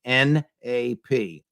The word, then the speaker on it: Napolitano: you to remember it it's the first syllable of my last name naap nonone aggression principle I believe that all